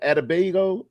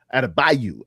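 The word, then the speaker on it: Adebayo: Adabago. Adabo or Bam. Adabio. Adabayu.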